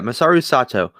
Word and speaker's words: Masaru Sato: Yeah, Masaru Sato.